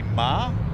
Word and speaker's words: Marr: Now it is, for confirmation, it is Brody Marr. Brody did ask me this morning to correct that. It is Brody Marr, not Mayer.